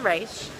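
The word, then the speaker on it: Ra's: And he said, and I hadn't noticed this, anyone in the league says Raish, anyone outside of the league says Rosh.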